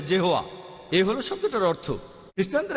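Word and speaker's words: Jehovah: আর উচ্চারণ করার সময় তারা সামনে একটা জে লাগায় আর এটা হয়ে যায় জেহোয়া।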